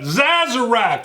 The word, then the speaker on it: Sazerac: Sazerac. Yeah, that's right. I pronounce the S as a Z.